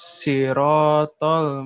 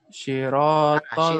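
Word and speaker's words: صراط: Sirotol. lagi. Si ya, si. Si. Ya, seperti itu. Tapi agak tebal lagi, Pak. Antum belum apa tebalnya masih sedikit ya.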